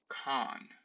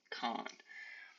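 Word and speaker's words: quan: It'd be, here on the screen we have con, when. Con, that QU is hard, it's a K, con.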